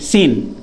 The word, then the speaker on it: scene: भी एस के बाद सी आया तो सी साइलेंट होता है। हमने लिखा SCENE, सीन।